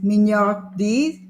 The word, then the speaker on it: mignardise: So, do you have a pronunciation for it? I think I can remember. It's mignardise.